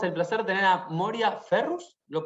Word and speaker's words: Moriah Ferrus: Tenemos el placer de tener a Moria Ferrus, ¿lo pronuncié bien? Moria Ferrus, sí, Moria Ferrus, ok.